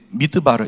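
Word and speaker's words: מדבר: 전치사인데 그 뒤에 드르라고 발언나니까 원래는 다바르예요. 다바르 이게 뭐냐? 말씀이 말씀 말씀을 다바르 이렇게 해요. 근데 이게 이게 합쳐지면서 합성어가 되니까 드바르 이렇게 발음이 나는 건데 미드바르 이것이 광야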